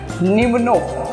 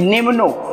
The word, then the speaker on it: pneumono: से स्टार्ट है, फाइन, लेकिन पी इसमें साइलेंट लेटर है. तो मेक श्योर इसको तो हमें पढ़ना ही नहीं है, हमें पढ़ना है एन से. तो कैसे स्टार्ट करेंगे, सबसे पहले हमें यहां से यहां तक प्रोनाउंस करना है. तो इसको कैसे प्रोनाउंस करेंगे आप, निम्नो. राइट, कैसे प्रोनाउंस करेंगे, निम्नो.